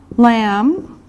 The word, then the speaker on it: lamb: Okay, now here we can put meat like beef, lamb, remember this is silent, the B is silent, pork, chicken, fish, and eggs.